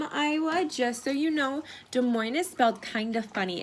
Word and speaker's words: Des Moines: it is not pronounced Des Moines is it's pronounced Des Moines it's French and you do not pronounce the SS just so you know